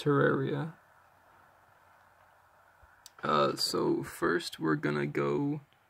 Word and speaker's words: Terraria: Terraria, it's pronounced Terraria.